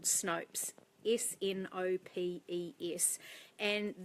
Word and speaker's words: Snopes: pronounce that right and it does rhyme with soaps so it's called snopes if in opa es